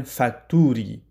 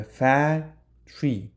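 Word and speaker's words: factory: فابریکه معنا میشه زیادتر دوستای ما باز ای را میگن فکتوری اشتباست دوستان فکتوری هرگز گفته نمیشه باید ای را فتری تلفظ کنین خب قوانینش داریم چی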